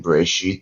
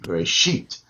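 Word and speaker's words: בראשית: So the aleph actually closes the reisha syllable. See what I'm Bere saying? See what I'm saying? sheet. Bereshit. Yeah, and then the accent is under the shin.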